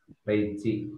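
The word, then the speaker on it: 零時: atau jam 00 khusus reiji ya. Tapi kalau jam 12 ya tetap dibaca Junichi. Ya, jadi kalau untuk 12 tetap Junichi, tapi khusus ya untuk jam 24 atau 00 itu pengucapannya Reiji ya.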